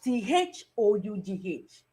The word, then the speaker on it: though: In the word THOUGH, it's pronounced oh, that is though.